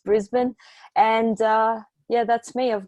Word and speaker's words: Brisbane: Australians don't really pronounce syllables very much, so we're very lazy speakers, so it's Brisbane.